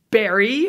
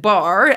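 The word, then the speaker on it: Barre: Libertarian Convention over in Barrie, Vermont. Last time I said bar, and the internet let me know that that was incorrect. So even though you spell it that way, it is Barrie, Vermont, and it was a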